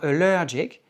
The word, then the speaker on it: allergic: Dans « allergic », il y a un accent tonique sur la deuxième syllabe. On dit « allergic ».